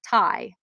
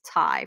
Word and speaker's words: Ty: it's a plush and it's thai not ty i always say ty but it's actually pronounced tai from what i've been